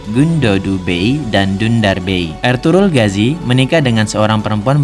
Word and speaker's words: Ertuğrul: Nama beliau tidak dibaca dengan ejaan Ertuğrul Gazi, tapi Ertuğrul Gazi. Huruf G yang bertopi dalam bahasa Turki tidak dibaca, namun hanya sedikit menambah panjang huruf sebelumnya. Bacaannya adalah Ertuğrul, bukan Ertugrul.